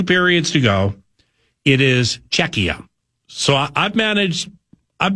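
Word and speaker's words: Czechia: It was Chetchia, then it was Shesia, and now it's Czecha. So Matzko said it right. Czecha.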